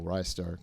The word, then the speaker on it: Ristar: Internally, it was Rystar. People say Ristar for whatever reason because they think it's wrist-related.